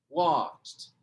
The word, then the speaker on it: watched: Quando você coloca, quando você coloca o ED, ele vai virar watched. Watched. Tá vendo que não mudou a sílaba tônica?